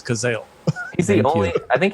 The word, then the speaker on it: Cazale: much i was like is it kazali or then i actually looked up the pronunciation so it is kazel he's the only i